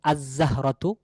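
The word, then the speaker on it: الزهرة: যদি আমরা বলতে চাই নির্দিষ্ট একটি ফুল, তাহলে সেক্ষেত্রে বলতে হবে আজ-জাহরাতু, ফুলটি। ঠিক আছে, আজ-জাহরাতু, ফুলটি। তাহলে এখানে লামের উচ্চারণ আসে নাই।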